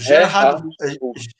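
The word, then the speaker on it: Gerardus: chamado o reard vus porque é G né G em holandês ele tem um som de R pronuncia R Então seria o r gerardos vz é que eu ouvi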